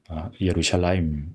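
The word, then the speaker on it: ירושלים: 맴 끝에 그래서 예루살렘 우리는 예루살렘이 이렇게 발음하지만 오늘날 현대 입으로도 마찬가지지만 예루살라임 원래 히브리어로 예루살렘을 예루살렘입니다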